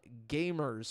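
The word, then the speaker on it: GVMERS: there's a YouTube channel called Gamers, but it's spelled G-V-M-E-R-S.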